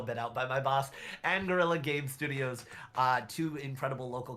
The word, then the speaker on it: Anguilla: on that table, but Retropixel Digital and Anguilla, that is how it's said. Oh, I'm gonna get so bit out by my boss. Anguilla Game Studios, two incredible local companies.